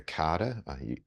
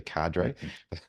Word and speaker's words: cadre: mentors come over as like a a a Carter the Americans say say Cadre yeah um as as